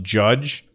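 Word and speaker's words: Jydge: golf and then one called JY d GE I think that that's pronounced judge and you can check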